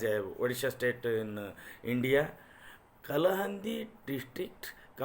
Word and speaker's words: Kalahandi: Kalahandi is a place in Odisha in India. So it has been locally pronounced Kalahani.